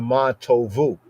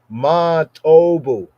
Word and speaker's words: Ma Tovu: They say with the Ma Tovu, the modern pronunciation Ma Tovu. Ma Tovu. An ancient pointing, Ma Tobu.